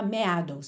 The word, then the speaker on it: meadows: Essa palavra se escreve M-E-A-D-O-W-S, mas você não fala meadows, só meadows, meadows, ok?